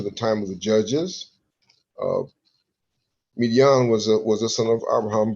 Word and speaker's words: Midian: How you pronounce this? Sons of Midian? Yeah, Midian.